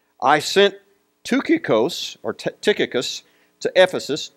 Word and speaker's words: Tychicus: sent two kikos or tychicus to ephesus tucacos is the is the greek pronunciation i sent him to